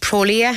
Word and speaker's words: Prolia: A person says, what is the doctor's opinion on Prolia? Am I pronouncing that right?